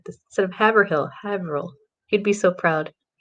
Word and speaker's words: Haverhill: Patrick's Cemetery in Haverhill. Oh, I said it right. I usually butcher it, but I did it right. Instead of Haverhill, Haverhill.